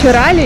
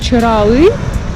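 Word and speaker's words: Çıralı: Чирали, или, как правильно говорить, Чиралы, там гораздо больше людей.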